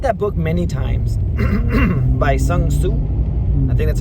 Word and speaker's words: Sun Tzu: I've read that book many times by Sun Tzu. I think that's how you pronounce the dude's name.